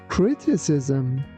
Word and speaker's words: criticism: The first one is pronounced like C and the second one like S. That's why we say criticism.